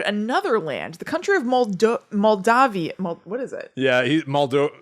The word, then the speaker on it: Moldavia: the scrooge of moldovia it's spelled moldavia basically it's m-o-l-d-a-v-i-a but i thought it was moltov i guess i'm gonna